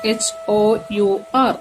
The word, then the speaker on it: hour: Dash hour, H-O-U-R. The first letter is H. But we have to consider the sound. An hour. H here, H is silent. So the first sound is hour.